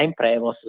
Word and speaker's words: Prevost: E anche qui c'è poi il gioco di parole perché pronunciata ovviamente all'inglese la imprevost. Se uno lo legge è come se fosse scritto in italiano l'imprevost, l'imprevisto.